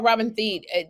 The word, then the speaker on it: Thede: I'm going to say the name wrong. Thede? Thede? Oh, Robin Thede.